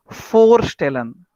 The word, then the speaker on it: Vorstellen: This is Vorstellen. For V is not V, right? V is for.